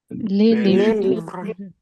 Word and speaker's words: les livres: Remember, we do not pronounce the s in the end. Just remember this rule. The books in French is les livres. les livres The houses in French is les maisons.